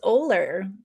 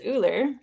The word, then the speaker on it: Oehler: It's Oehler. Okay. And in German, you nailed it, which is Uller.